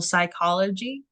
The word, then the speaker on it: psychology: It's something that we don't pronounce in English. For example, psychology. That's why it starts with a P.